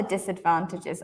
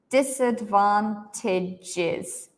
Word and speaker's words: disadvantages: You can hear, right, that in this word, this A and this E, actually they are both pronounced like I. Disadvantages. Disadvantages.